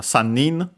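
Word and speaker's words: 三人: So to the accent and re for the futari for the under numbers uh uh we have uh sanin accent on the knee yin accent also on the knee also on the knee.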